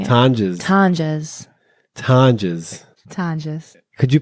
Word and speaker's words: Tonjes: Tonjes, at Tonjes.